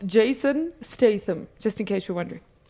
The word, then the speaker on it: Statham: how to pronounce his name and it is pronounced Jason Statham just in case you're wondering so and then